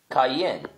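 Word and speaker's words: קין: are in here too this is how you say Cain's name in Hebrew kayen his brother Abel is Havel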